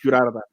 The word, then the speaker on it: Durarara: I thought it was introduced to me, and I never considered it's Durarara.